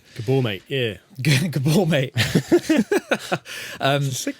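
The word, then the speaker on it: Maté: called gabor mate gabor it's spelt mate but i'm pretty sure it's not pronounced mate gabor mate yeah gabor mate um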